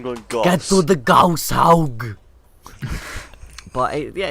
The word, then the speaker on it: Gauss: They got shot by the Gauss cannon. Yeah, Gauss, Jack, it's Gauss.